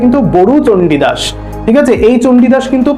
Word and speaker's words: বড়ু চণ্ডীদাস: আবার বলছি নামটা কার লেখা মাথায় রাখতে হবে, বড়ু চণ্ডীদাস, ব ডয়শূন্যরয় হস্যু, এটা কিন্তু অনেকেই আমরা গরু উচ্চারণ করি, সেটা কিন্তু আমরা করব না, এটা মাথায় রেখে দেবে, উচ্চারণটা কিন্তু বড়ু চণ্ডীদাস।